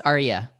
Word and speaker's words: Aryé: you i'm super excited do i pronounce your first name r yeah it's arya arya oh god i think